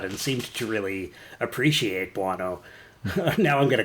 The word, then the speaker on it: Buono: Victor, not Bono or Bono, but Victor Buono returned as one of my favorite all-time characters, King Tut. Rhymes with guano.